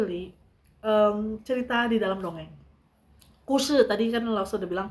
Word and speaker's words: 故事: Kushi tadi kan Lao sudah bilang kushi, gusi dibacanya kushi itu artinya story, li itu dalam, tonghua dongeng.